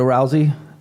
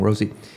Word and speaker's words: Rousey: my opinion I mean Ronda Rousey I always say her name wrong Rosie she quite sure she